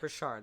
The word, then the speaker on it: Richard: Richard, that's how you say it.